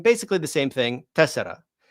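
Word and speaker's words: τέσσερα: Tessera in modern Greek, tessara in ancient Greek. Nobody's going to say tessara, right? Nobody's going to spell that number with tessara in modern Greek. They're always going to say tessera with epsilon.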